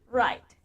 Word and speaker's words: write: even can write happy right the W is silent write your name on